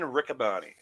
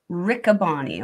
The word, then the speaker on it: Riccaboni: Ian How do you say his name? Ian Riccaboni. Riccaboni. Okay, Riccaboni or Matt.